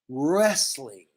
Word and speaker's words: wrestling: is wrestling wrestling wrestling do not pronounce w just wrestling they are wrestling next